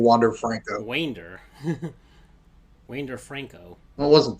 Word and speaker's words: Wander Franco: The only real big Rays player there was Wander Franco, and the stadium announcer mispronounced it. He kept saying Wander Franco.